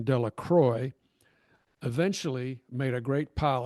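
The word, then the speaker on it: Delacroix: The villagers pronounced this name Dela Croy eventually made a great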